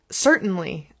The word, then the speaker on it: certainly: And notice that I don't say certainly. Certainly. Certainly. Certainly. Instead of I kind of skip the middle syllable with the T and just elongate the N.